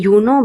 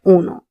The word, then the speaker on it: uno: Notice that U is not being pronounced as you. We are not saying youo but uno.